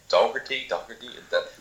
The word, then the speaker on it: Dougherty: Is that how you pronounce his name? Dougherty? I say Dougherty because I'm Irish.